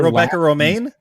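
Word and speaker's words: Rebecca Romijn: that quote it's like the lettuce on the pronunciation of her Rebecca Romaine Rebecca Romaine is a correct answer okay John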